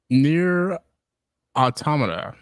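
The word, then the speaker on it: NieR: Automata: fingers crossed um but in other news um near autom that's how you pronounce that uh if you guys are familiar with the old school games um you know near aoma is is is pretty pretty interesting but uh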